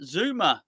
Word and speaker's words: Zouma: But after he did that, he said, "Have you seen the Kurt Zouma rumor? The Kurt Zouma rumor." It rhymes, that, doesn't it? The Kurt Zouma It's rumor.